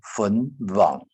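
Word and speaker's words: 黃: 成粉网，好，因为客家话黄色的黄都念成 W 音，哈，就是乌的音，粉网，好，比如说黄色，我们讲网色，好，皇帝网梯，好，我们不会念成仿啊，不一样，好，所以要念成引粉网。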